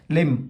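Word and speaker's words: limb: लिम इसमें क्या है? बी नहीं बोलते अपन। सो इसीलिए क्या हो गया? लिम हो गया।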